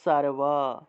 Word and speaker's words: সর্ব: স উচ্চারণ করতে হবে মনে করেন যে সর্ব আছে সর্ব আমরা উচ্চারণ করব সারওয়া সারওয়া সারওয়া এইভাবে তাহলে অবশ্য যে তালবস